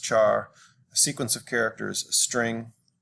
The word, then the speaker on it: char: say double a single character char that's usually pronounced char a sequence of characters string so for examples